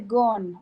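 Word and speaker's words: Ghon: Ay Dios mío eh complejo de gon o lo de gon se escribe así con una h intercalada y es pregunta de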